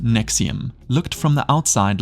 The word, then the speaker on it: NXIVM: NXIVM, pronounced Nexium, looked from the outside like a high-end self-help company with personal development courses that cost thousands of dollars per session.